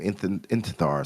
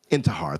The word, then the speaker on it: Intihar: I forgot his last name, Intithar. So I forgot how to say it, but he has ties to them. Intihar, thank you.